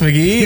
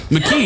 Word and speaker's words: McKee: I'm McGee, the sloppy poppy. McKee, that's your last name's McKee, remember? I've never said it right.